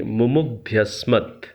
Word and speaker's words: मुमुग्ध्यस्मत्: तो कई बार इस मंत्र का उच्चारण करते समय बृहद यज्ञ में लोगों को यहाँ दिक्कत आती है उच्चारण में, मुमुग्ध्यस्मत्, विश्वाद्वेषांसि प्रमुमुग्ध्यस्मत्।